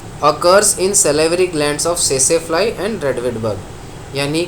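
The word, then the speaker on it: tsetse: मैं एक बात बता दूं, ये टेसेफ्लाई नहीं है, टी इज़ साइलेंट। कुछ लोग टेसे बोल देंगे, बट अगर आप इसको मेडिकल डिक्शनरी होगा आपको ऑनलाइन, उसमें आप सर्च करोगे तो आपको सेसेफ्लाई सुनाई देगा।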